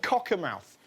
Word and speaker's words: Cockermouth: the northern town of cocker mouth that's that's how you pronounce it Cocker mouth this isn't Katie Spencer